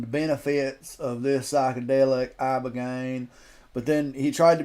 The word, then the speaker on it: ibogaine: It's called ibogaine. Here we go. Treatment. Listen to Joe Rogan. Ibogaine. Remember the name. Is that pronounced relatively properly, would you say?